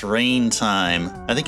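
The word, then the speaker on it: Reyn: I know it's pronounced Rain.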